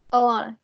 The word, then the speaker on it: Alana: Is it Elena or Alana? How do you say your name? Alana. You pronounced it correctly.